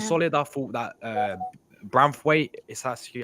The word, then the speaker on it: Branthwaite: I thought that Branthwaite is actually how you say his name.